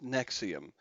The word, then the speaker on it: NXIVM: of this organization is nexium just like the heartburn medication yep it is Latin